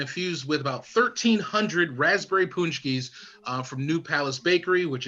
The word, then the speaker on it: Paczki: that is infused with punchkis. What a punchki is, which is spelled Paczki, and of course does not match the pronunciation at all.